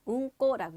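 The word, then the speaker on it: うんこ: 우리가 그걸 뭐라고 하냐면 응꼬라고 얘기를 해요.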